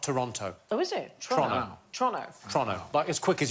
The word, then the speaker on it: Toronto: half is Canadian and everything seems to be pronounced a little bit faster than it should be so it's Toronto not Toronto oh is it Toronto Toronto but as quick